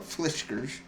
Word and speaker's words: Fiskars: And the Meijer store that we have, which is like a Michigan-based company, but this is a whiskers, like cat's whiskers, but fliskers.